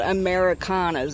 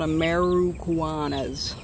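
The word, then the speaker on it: Ameraucana: it properly i guess everyone thinks they're called americanas that's not what they're called they're called ameruguanas they're actually a pretty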